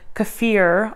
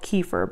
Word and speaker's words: kefir: in first with a little bit of the kefir I thought it was called kefir but apparently it's supposed to be pronounced kefir and then I go in with